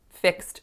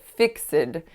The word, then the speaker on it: fixed: was the word fixed fixed so instead of saying I said fix it so I snuck an extra schwa sound in there which many of my